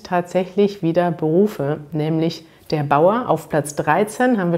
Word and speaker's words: Bauer: tipps oder gemüse anbaut hier ist zu beachten dass ihr dieses auto hat wird immer wie ausgesprochen bauen und am ende habt ihr das er aber dass er wird hier wieder nicht betont also es ist eigentlich wie ein a man könnte auch sagen bauer bauer beim richter hört ihr